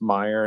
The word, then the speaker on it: Meyer: Well, I guess since my name is out there, kind of, my last name is Meyer, and it's pronounced like Oscar Mayer, but it's not spelled the same.